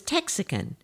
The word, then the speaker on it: Texican: The term for Anglos living in Mexican Texas from 1820 to 1836 was Texican, easy to remember because it rhymes with Mexican.